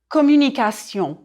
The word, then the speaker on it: communication: Passion, conversation, communication. Repeat, please. Passion, conversation, communication. Uh-oh. Did I hear a bit of trouble with communication? Oh, the sion was fine. It's the U, the American U, I'm worried about.